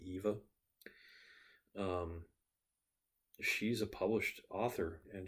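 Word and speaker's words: Yva: And one of them, whose character's name is Yiva, Eva, it's spelled Y-V-A, so I've called it Yiva for years, but I guess it's actually Eva.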